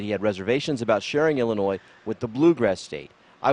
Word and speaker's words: Illinois: No, the S is silent. Illinois. Illinois, that no one sings anymore.